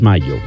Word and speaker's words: Mallo: Les saludan los Rieleros del Norte para decirles que aquí donde canta el gallo está Laboratorios Mayo. Y Mayo se escribe como gallo, LLO, Laboratorios Mayo.